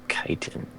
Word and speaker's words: chitin: Never knew for the longest time that it was chitin. Never knew how to say that. I used to Then I pronounce heard it in the shit.